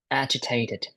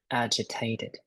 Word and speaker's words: agitated: But this word is pronounced as agitated, agitated. Agitated.